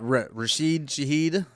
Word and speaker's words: Rashid Shaheed: Was that Rashid Shaheed? Probably mispronounced that because that's No, what I you did.